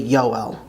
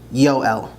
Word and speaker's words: יואל: As is often the case, the J's in English are actually yuds in Hebrew, so Joel is actually Yoel, Yoel.